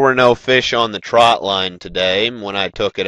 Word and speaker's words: trotline: wanted to explain to you guys what a trot line actually is I've heard it pronounced Trot Line and troutline trot line is the actual correct pronunciation A